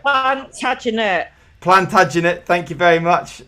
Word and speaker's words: Plantagenet: Plantagenet.